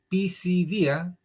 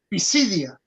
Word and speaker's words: Pisidia: de Antioquía de Pisidía, Pisidia y anuncia Pisidia. Pisidia, Pisidia. Porque sería pisidia si tuviera acento en la Sí, en la I. Pero es pisidia.